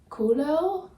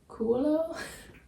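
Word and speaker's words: Coelho: right but it's Paulo kulo quo like in Dutch you would say kulo cuz o e you pronounce as u in Dutch so Paulo kulo I read the beginning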